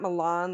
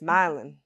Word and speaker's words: Milan: Just like Milan down here is not Milan like it is in Italy. It's Milin.